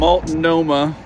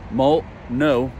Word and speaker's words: Multnomah: Multnomah, and I asked, that's how you say it, Multnomah Falls.